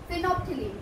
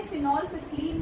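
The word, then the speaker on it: phenolphthalein: डाई का नाम है फिनोप्थिलीन। कुछ लोग इसे फिनॉल फिथिलीन भी प्रोनाउंस करते हैं, कुछ लोग इसे फिनोप्थिलीन भी कहते हैं, आपको जो कन्वीनियंट लगे आप वैसे बोलें।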